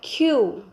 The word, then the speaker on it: queue: What is the pronunciation? Soul. Next is family, then troop, staff, audience, and queue.